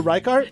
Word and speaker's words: Reichardt: I'm going to totally mispronounce Jennifer's last name. Jennifer Reichardt.